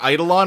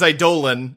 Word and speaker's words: Eidolon: learned that we've been saying idol on wrong for like a year and a half i refuse to say it any other way honestly the correct pronunciation is a dolan and i will not